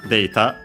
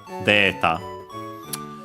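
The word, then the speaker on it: データ: Uh notice that uh for words uh from English usually uh a the a sound straight up became long a uh we didn't even keep it uh with the e uh in writing uh straight up became long a directly unlike words of uh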